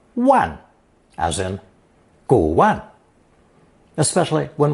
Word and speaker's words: 玩: If you recall, it also can be pronounced fourth tone, wan, as in 古玩, especially when referring to antiques or art objects.